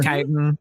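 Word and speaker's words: chitin: It is uh later described as uh Chitten or Kitan. Whichever one it's pronounced, I don't remember. Kitan. Yeah. Matt Mercer. I have always pronounced it as Chitten because of how I read it in World of Warcraft.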